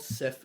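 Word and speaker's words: Cif: So, for example, it was called Sif in France because it was easy to say Sif, but it would have been hard for them to say Jif.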